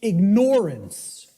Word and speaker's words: ignorance: I tell people, start pronouncing it ignorance. Ignorance. Then people will hear the word ignore in it, and the connotation becomes clear.